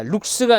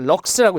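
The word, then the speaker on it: lux: 아, 룩스가 아니라 럭스라고 읽었네요. 럭스. 저는 이걸 룩스라고 읽었는데 럭스였습니다.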